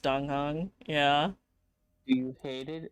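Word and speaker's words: Dan Heng: I hate that his name is pronounced Donghang.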